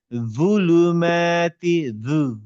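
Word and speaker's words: ظلمات: হ্যাঁ, জুলুমাতি, জুলুমাতি, জিভটা যদি একটু বের করে সামনের দাঁতে নিয়ে আসেন, দেখবেন দুটাই বলবেন, কিন্তু একটু একটু বের করা উচ্চারণ আর কি।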